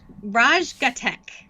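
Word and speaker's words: Raj Ghatak: you say his name his name is raj raj gatek okay i would have gotten raj right but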